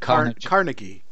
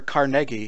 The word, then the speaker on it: Carnegie Mellon: Pronounce it. Carnegie. Carnegie Mellon. Or Carnegie has been pronounced also sometimes.